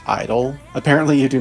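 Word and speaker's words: (G)I-DLE: and collaborations with real world artists like Zed G Idol gu GID Idol idol apparently it's pronounced Idol apparently you do not pronounce the J in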